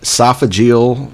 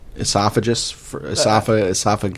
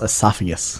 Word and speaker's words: esophagus: Man, esophageal frozen. What? Esophagus. I'm not drunk. It's pronounced esophagus.